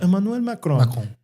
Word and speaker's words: Emmanuel Macron: press conference and he he speaks French and so he pronounces it with a French accent. Emanuel Macron, they went to town.